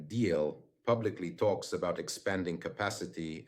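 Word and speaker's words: Diehl: For example, the manufacturer of Iris T deal that's how it's pronounced in German deal publicly talks about expanding capacity and increasing production.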